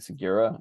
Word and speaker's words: Segura: I think Sigura is how you pronounce it.